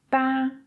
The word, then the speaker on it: está: Instead of 'está', I can say 'tá'.